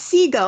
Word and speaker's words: Siegel: And of course, Kate is it Kate Siegel, you think is how you pronounce? It's Siegel, yeah.